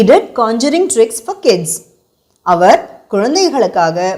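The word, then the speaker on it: Conjuring: பார்த்த படம் இந்த காஞ்சரிங் உங்களுக்காக இன்னொரு இன்னொரு தடவை உச்சரிக்கிறேன் கான்ஜூரிங் கான்ஜூரிங் அப்படின்னா இயற்கை விதியை மீறி மேஜிக் ட்ரிக்ஸ் பண்றது இதுவே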